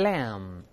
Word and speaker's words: lamb: 小绵羊，大声点没？lamb，注意 b 不发音啊，